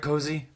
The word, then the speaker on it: Cozzi: guest on the show joining us is Matt cozy Co am I saying it right cozy yeah perfect of the locked on network so